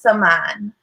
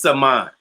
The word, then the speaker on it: Samaan: It's Samaan. It's Samaan.